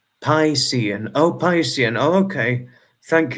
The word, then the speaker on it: Piscean: It would be pronounced Piscean.